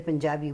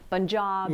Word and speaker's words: Punjab: You mentioned Punjab and Delhi instead of Punjab and Delhi.